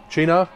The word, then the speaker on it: Cynar: So for those that aren't familiar with Chee-nar, I used to pronounce it Chee-nar, which is apparently wrong.